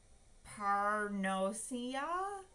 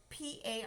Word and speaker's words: paronychia: Oh, parnosia?